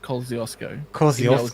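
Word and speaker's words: Kosciuszko: K okay well kill everyone in Australia calls it Kosco named after a Polish guy cuz you know we're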